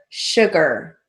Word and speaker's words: sugar: Borrow 1 cup of flour, F-L-O-U-R, and 2 cups of sugar. And sugar, even though it's spelled S-U-G, we're going to write it like it sounds, S-H-U-G, second stroke, A-R, sugar, period.